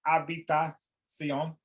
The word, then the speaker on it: habitación: So your television, la televisión, la decisión, la conversación, the conversation, la, the H is silent, la habitación, la ciudad, city, la